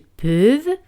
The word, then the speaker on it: peuvent: Ils peuvent. Elles peuvent. Peuvent. Un T al final no se pronuncian.